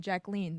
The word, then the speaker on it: Jacqueline: I learned last night on TikTok that Jackie Kennedy didn't like being called Jackie, and she preferred being called Jacqueline, the French pronunciation.